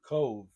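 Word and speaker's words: Cobh: we stayed in Cove, but it's spelled C O B H. That's right. BH is V.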